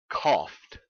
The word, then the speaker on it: coughed: consonant laugh cough and we pronounce that e d simply as t a t sound without any vowel laughed coughed so that ought to